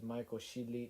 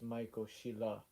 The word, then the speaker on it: Michael Sheila: soul voice the voice uh over here pronounced it as michael sheely it's michael sheila voiceover youtube video player